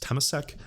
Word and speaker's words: Temasek: I believe it's pronounced Temasek, but I know you guys remember all the MAS stuff.